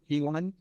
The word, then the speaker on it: Ki One: It's pronounced P1.